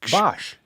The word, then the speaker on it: Bosch: Bos. Bosch. Bosch. Uh I'm sorry to Chris. Chris Bosk. Who? Bosch who is a NBA player. Any if you I'm sorry to anyone and everyone who Bos has anything to do with Bos at all.